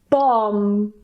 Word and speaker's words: bomb: It's in the middle the B at the end is Silent and we just pronounce The M so we just pronounce and that's it for example bomb Climb and of course